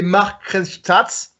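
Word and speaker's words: Markranstädt: Il a été en gros fondé en 2009 parce qu'ils ont Red Bull a racheté la licence du SSV Markranstadt. C'est bien prononcé.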